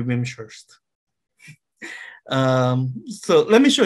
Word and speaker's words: Wimshurst: the veeam shirts okay i don't know how to pronounce the name right i believe it is an english name so it's either wing shirts or ventures if it's english it should be vimshurst um so let me